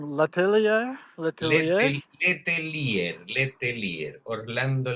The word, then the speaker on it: Letelier: How do you pronounce his last name? Letelier? Letelier? Letelier, Letelier, Orlando Letelier.